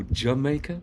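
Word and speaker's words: D'yer Mak'er: Which even then, like Led Zeppelin did a reggae song called Jamaica, or Jamaica, that's how it's pronounced.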